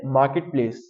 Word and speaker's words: marketplace: first one is Marketplace some people pronounce the word r the letter r in the word but the letter R is silent we will just say Marketplace then Wednesday some people